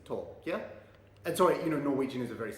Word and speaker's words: Taake: Like, I used to think from my knowledge of German, the pronunciation was TAAKE, or some people used to say TAAKE, and I heard TAAKE. But actually, the correct pronunciation, when I looked it up on Google Translate, is TAAKE.